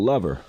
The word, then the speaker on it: Lovher: It's called Lover, but it's spelled like Lovher.